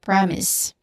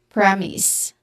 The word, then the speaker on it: premise: And then S, the second syllable is S, which is short A sound. When combined together, we get premise. Again, premise.